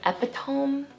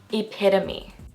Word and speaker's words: epitome: Most people would say something like epitome or something like that, but it's actually pronounced epitome.